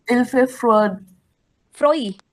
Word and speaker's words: froid: Froid. Pronunciation is froid.